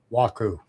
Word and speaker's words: Guaku: Yeah, Guaku. I'm assuming it's pronounced Guaku, but I could be wrong. Waku. Waku. Okay. G silent.